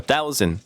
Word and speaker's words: thousand: 이 S 발음 때문에 그런 것 같은데 일단은 모래가 영어로 sand잖아요. sand. 이거는 이 발음이 나는데 thousand 할 때는 그 조금 Z 발음이 있어요.